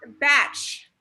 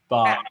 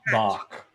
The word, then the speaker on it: Bach: Batch. Batch? Batch is sick. Bach. Bach. I believe is the pronunciation.